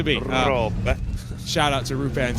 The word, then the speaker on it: Roope: I commentated on Rupe in the Prodigy Racing League, and I think he Americanized the pronunciation enough for Brian Till and myself so that we felt comfortable saying it. So he is Rupe. He is Rupe to me.